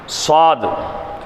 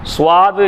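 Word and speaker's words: صاد: தான் ஸ்வாது முடியும் பாருங்க சுவாது இல்ல நிறைய பேர் சுவாது சுவாதுன்னு படிப்போம் அது சுவாது இல்ல ஸ்வாது ஸ்வாது எப்படி படிக்கணும் ஸ்வாது சரிங்களா அடுத்து லாது லாது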